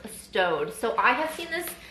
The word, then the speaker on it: Staud: want to always say stowed or Stout I want to say Stout but I believe it is pronounced stowed so I have seen